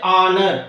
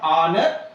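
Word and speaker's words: honour: K is silent next honor h o n o u r honor so the silent letter is H here our again the silent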